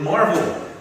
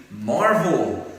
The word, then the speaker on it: Marvel: Thì mình sẽ dạy các bạn một số các từ vựng liên quan đến Marvel. Ok. Rất ít người đọc đúng cái tên này, nhưng mình ra sạp chiếu phim các ông toàn đọc là Marvel.